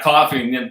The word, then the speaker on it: Coffey: It's coffee, not spelled. Yeah, coffee, just not spelled like the drink.